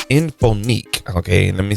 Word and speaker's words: Inphonik: And this is going to be coming from a company called Inphonik. Okay, let me say that name again. Okay, Inphonik, and it's spelled INPHONIK.